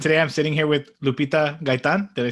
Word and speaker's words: Lupita Gaytan: My name's Eddie, and today I'm sitting here with Lupita Gaytan.